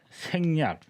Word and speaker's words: 생략: 반성이라고 하면 되고 근데 요것은 덜 생 자가 이제 문제야 이제 이럴 때 쓸 때는 생으로 읽어야 돼 발음 자체가 달라요 그래서 이제 이렇게 했을 때는 여러분들 다 아시는 말이에요 생략 아 생략이 이거군요 그렇죠